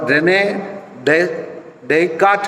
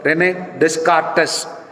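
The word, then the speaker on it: René Descartes: philosopher तर्क शास्त्री उसको रेने डे काट कहते हैं अगर उसको उच्चारण स्पेलिंग के अनुसार देखेंगे तो रेने डिस कार्टस ऐसे स्पेलिंग होता है लेकिन इंग्लिश में उसको कहते ने काट वो कहता है आई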